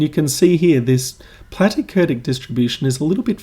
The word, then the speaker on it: platykurtic: I always thought, I always remembered platykurtic as rhyming with flatty. So I thought platty, flatty.